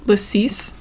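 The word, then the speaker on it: lacis: think we were just talking about lasis which I think is now the correct pronunciation and uh yeah I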